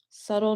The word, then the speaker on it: subtle: Subtle nuances. And this is also a phrase that you will hear a lot of native English speakers use, subtle nuances. The B is silent, subtle.